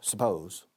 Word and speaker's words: suppose: Pero decimos suppose. La segunda sílaba lleva el estrés, as we say in English. The second syllable carries the stress.